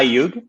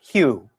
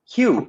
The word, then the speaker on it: Hugh: a yuke song hi yug hello everybody and it's pronounced hue hue oh sorry thank you that's okay the g distracts a lot of people hugh is both a